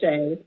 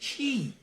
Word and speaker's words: She: Yeah, it's Shay. It's Shay, but it's okay. And you know what's funny? It's right here in front of me, and it says, in parentheses, Shay. But I still pronounced it She.